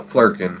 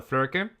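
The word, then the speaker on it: Flerken: So it's basically a Flurkin from Captain Marvel.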